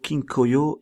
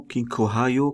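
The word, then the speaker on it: Kinko Hyo: Ici, juste pour vous montrer comment on prononce l'Ishimoku. Ishimoku Kinkoyo et non Kinkohayo comme ils le prononcent les Américains.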